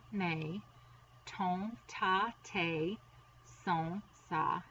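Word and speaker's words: mes: But in order to say my, there are 3 ways, and it is mon, ma, or may. That's how you pronounce them.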